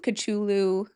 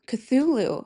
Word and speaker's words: Cthulhu: HP Lovecraft wrote this story called The Call of Culu. Cthulhu.